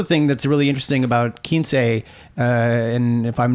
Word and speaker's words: Quince: Kinsey, for those who don't speak/read Spanish, you might misunderstand it as Quince. Quince. A lot of people mispronounce it. So if you're going looking for Kinsey and you see Quince,